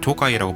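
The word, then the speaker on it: 東海: 아 그리고 사소한 내용인데요 JR 동해는 사실 호가 도처럼 일본어 발음인 JR 토 아이라고 부르는게 더 편해서 앞으로는 그냥 토 아이라고 하겠습니다 정확히 님 토우가 이입니다 저는 IC 카드를 우리나라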